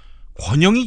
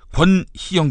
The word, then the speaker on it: 권희영: 권희영 교수를 권영희 교수라고 읽은 부분이 있었습니다. 또 한민구 국방부 장관이 미국 편을 들었는데 제가 중국 편을 들었다. 또 이렇게 말한 부분이 있었습니다. 바로 잡겠습니다. 권희영 교수고요.